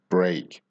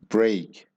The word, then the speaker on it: break: this word it's different we actually pronounce this more like an A so it sounds more like break so it's not an e sound it's an a sound break a leg okay now